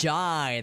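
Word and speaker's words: Jae: Jai, that's how you pronounce it.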